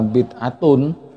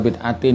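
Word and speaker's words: بدعة: Kulla bid'atin, bukan kulla bid'atun. Kulla bid'atin yang benar bacanya.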